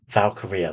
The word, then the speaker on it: Valkyria: Is it Valkyria. Valkyria? That's it. I I keep could calling her never pronounce Valkyrie. her first name. Valkyria.